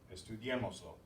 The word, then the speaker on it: Estudiémoslo: We added a syllable. We want to keep the stress here. So we write the accent. Estudiémoslo.